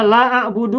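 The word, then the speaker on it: لا أعبد: La a'budu ma ta'budun, nanti lanya hilang tinggal a'budu ma ta'budun. Banyak Salah kan? kan? Harusnya la a'budu, aku tidak menyembah, nanti lanya hilang. Terbalik.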